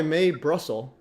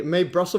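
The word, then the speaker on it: Mae Brussell: um let's go may may Brussel May Brussel how do you pronounce may v yeah May m AE and then Brussels B Ru there she is yeah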